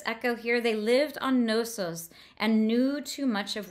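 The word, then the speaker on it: Knossos: I love this Echo here they lived on nosos and Knew Too Much of witchery already so this idea of nosos and new we have that K and if you're looking at it in the book nosos is k-n-o-s-s-o-s so that nosos and knew there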